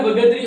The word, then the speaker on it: बगदरी: गांव का नाम है बगदरी। बिल्कुल, क्या नाम है, बगदरी, ठीक है ना, बगदरी। और कहीं पे थोड़ा इसका जो प्रोनाउंस अलग आता है, लेकिन आपको ध्यान रखना है बगदरी।